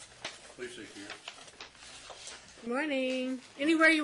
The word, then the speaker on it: Placek: On the Placek matter, this is, am I saying it right, first of all?